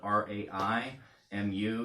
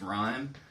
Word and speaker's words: Raimu: It's actually spelled R-A-I-M-U. You might think that's Raimu, but it's actually pronounced Rhyme.